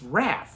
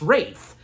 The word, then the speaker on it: Wraith: It's Wrath, it's Wraith. Wraith, Watson, it's Wraith. He's a part of the Egyptian cult and all that. And yeah, that's the correct way how to pronounce it, Wraith.